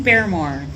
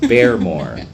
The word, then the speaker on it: Baremore: to continuously mispronounce it how do you say your name beore beore you hear that beore all right okay let's